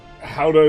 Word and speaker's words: Gouda: In English, Gouda is commonly pronounced as uh Gouda or sometimes Gouda. Gouda is like the way I hear it. But the Dutch is similar to who uh Gouda.